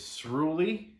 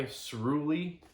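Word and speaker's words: Sruli: this guy's name is shroolie i'm gonna butcher that it's kind of like unruly but with an s-r-u-l-i s-rooly that's his name sorry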